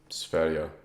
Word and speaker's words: Sverige: How do you say Goatus' other name? Sverins? Sverige. It's sweet. It's literally just Sweden in Swedish.